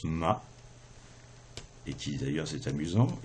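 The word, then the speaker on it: 马: dans un ordinateur n'est pas écrit 1 3 mais 1 0 1 et à l'intérieur d'un ordinateur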